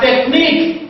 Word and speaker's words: technique: And we have technique, the last syllable is what? Is nick.